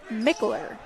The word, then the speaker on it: Mickler: a bowling pin man I'm being told it's pronounced like Mickler Mickler thank you Austin Bradley